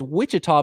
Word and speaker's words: Ouachita: I believe it's pronounced Wichita, but it's Ouachita Baptist.